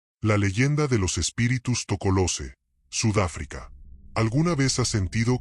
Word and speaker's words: Tokoloshe: Su nombre se pronuncia con cuidado, casi en susurros, Tocolose.